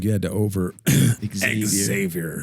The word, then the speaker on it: Xavier: I feel like you had to over Xavier. I want to say Xavier every time. The X is silent.